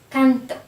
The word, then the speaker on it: canto: For example, yo canto, the stress is before the ending, before the O, canto.